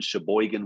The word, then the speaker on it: Sheboygan: this is his wife aaron was born in sheboygan wisconsin and yes that is how you pronounce it by the way but after earning